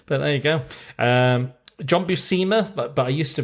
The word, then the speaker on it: Buscema: John Buscema, but I used to pronounce it as Boshemer for some reason.